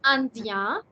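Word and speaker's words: indienne: This was andien. IEN is ien. But when you have NE again, it becomes the n complete sound, and hence you're going to pronounce it not as andien anymore, but as andien.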